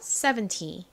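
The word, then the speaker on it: seventy: 70살이 이렇게 말하려고 그랬는데 잘못해서 7 이렇게 뒤에 강세를 줘버리면 17살로 오해할 수 있습니다 그러니까 앞에 강세 잊지 마세요 70 자 지우고 써 볼게요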